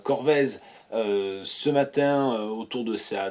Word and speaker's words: Corvez: Et le patronyme c'est Corvez, qu'on peut prononcer aussi Corvée, C-O-R-V-E-Z.